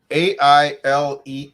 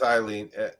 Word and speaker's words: Aileen: It's Aileen. Yeah, that's how you spell it. Yeah, I guess I had to look it up. Pronounces it, so I did too. I thought it was Eileen.